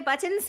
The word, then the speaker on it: button: I just pronounce my T's because there are T's in words.